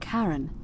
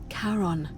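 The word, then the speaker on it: Charon: is a little off the name you heard wasn't karen it was c-h-a-r-o-n as in caron the ferryman of the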